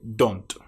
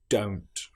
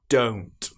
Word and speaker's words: don't: For example, many people will say don't instead of don't. They use the short o sound don't. But this is incorrect. It needs to be o don't.